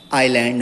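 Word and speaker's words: island: आइलैंड है। Okay, आइलैंड, एस इसका जो रहता है वो साइलेंट रहता है।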